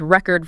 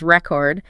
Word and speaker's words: record: The classic example they use of course is record versus record. Same letters, same spelling, but a completely different idea signaled purely by the rhythm.